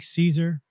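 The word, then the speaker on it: Caesar: them now you take Caeser it's Latin in Latin it's pronounced like Kaiser with a hard C but we anglicize it by pronouncing a soft C the Russians say Zar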